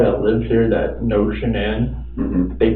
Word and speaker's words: Shannan: And I don't want to pronounce her name wrong. Shenane. Shenan. Shannan.